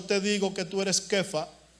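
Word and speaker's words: כיפא: palabra en arameo que se pronuncia algo así como kefa o kepa, con K de kilómetro, PH-A, kefa.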